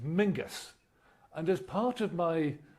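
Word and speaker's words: Menzies: like menses isn't pronounced menses. It's pronounced mingus.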